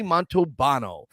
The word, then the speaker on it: Montalbano: that earlier right well Tony's name is Tony montobano not and I used to say because there's an L in there Monte balno because that